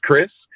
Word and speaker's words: Krizz: if you just put k r i ZZ which is pronounced Chris if you put that